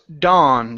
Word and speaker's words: dawn: This word here is pronounced dawn. So the AW there in the middle of the word is an ah sound.